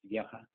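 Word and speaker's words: веха: The more telltale sign is the word for milestone in Russian is vyekha, which are Chlebnikov's initials, and they would be pronounced vyekha.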